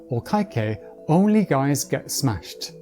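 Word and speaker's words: お会計お願いします: For the last bit, lets imagine Cobra Kai, the famous Karate dojo, but today women don't fight so only guys get smashed. Sumimasen, o kaikei onegaishimasu.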